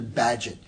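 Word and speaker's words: Bagehot: may have heard about walter badgett b-a-g-e-h-o-t pronounced badget a british essayist and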